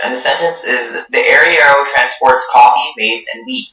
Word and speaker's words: arriero: So the word's only pronunciation is arriero.